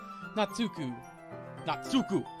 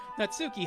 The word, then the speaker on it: Natsuki: Natsuku. I mispronounced her name. I'm gonna get so many comments from weebs like, no, that's not how you say her name. It's Suki.